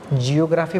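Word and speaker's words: γεωγράφος: था जिसका नाम था जियोग्राफोस। अब देखिए इसका सही शब्द, जो सही प्रोनाउंसिएशन है ना, वो है जियोग्राफो। सही प्रोनाउंसिएशन क्या है? जियोग्राफो है, लेकिन पढ़ते क्या है हम लोग? जियोग्राफोस पढ़ लेते हैं।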